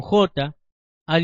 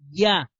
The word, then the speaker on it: Yah: pero como explicamos anteriormente la letra hebrea yod se pronuncia como una I y no como una J entonces aquí la verdadera pronunciación sería ya no Ja ahora leamos